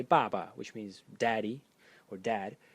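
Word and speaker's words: 爸: The next character in this series is pronounced ba in the fourth tone, and it is father.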